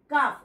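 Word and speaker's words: calf: আমরা উচ্চারণ করছি না সি এফ কাফ এলটা সাইলেন্ট আছে টি এল কে টক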